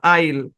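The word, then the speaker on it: aisle: ই এখানেও extra silent এখানেও same উচ্চারণ আইল আইল মানে কি এখানে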